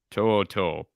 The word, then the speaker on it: To'oTo'o: Henry, I call him Tutu, but it's not pronounced that way. How do you pronounce his last name? To'oTo'o.